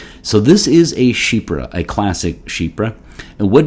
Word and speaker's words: chypre: this one is c-h-y-p-r-e so it looks like Kuiper or chipper in English but it's actually pronounced shebra so this is a Shipra a classic Shipra and what does that mean